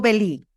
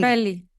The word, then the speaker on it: Belli: También tiene También pero, ¿es Belli o Belí? ¿Cómo lo Belly. pronuncia? Belli. Belly, Ah, perdón. es que aquí como que la doble L dije, pero bueno, también Sí.